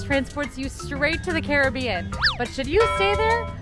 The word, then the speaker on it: Caribbean: you can probably guessed Caribbean themed I am going to switch between Caribbean and Caribbean even though I believe the Caribbean is the proper pronunciation just a heads up